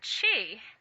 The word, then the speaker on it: Qi: is a it is the word chi Qi is how it's spelled in the uh in the pinion the Chinese government spelling which often makes no sense to us uh some people spell it CH apostrophe I um this so-called life